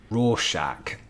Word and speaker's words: Rorschach: doodle i'm curious who this guy is though raw shack uh that's how you pronounce it and it's referring to the raw shack test uh which is some kind of psychiatrist